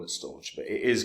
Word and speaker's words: Storj: and I'm going to continue to call it storage but it is called meant to be pronounced storage uh has done really well in